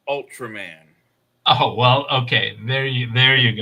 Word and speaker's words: Ultraman: And the word is Urutaroman. You ever heard of that TV show? Oh no! Urutaroman. I probably watched it. Bless you. Yeah. In English, it's pronounced Ultraman.